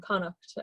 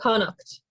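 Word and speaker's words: Connacht: province is galway in connect say it one more time it's a very strange it's spelled terrible too and tonight so yeah like c-o-n-n-a is kind of how you'd pronounce it i guess yes yeah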